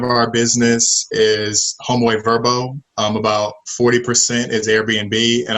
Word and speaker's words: VRBO: used to be called VRBO but now it's pronounced verba oh so homeboy and verbo are the pretty the same company now and